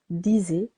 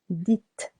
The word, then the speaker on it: dites: Be careful here. Not disait, but dites.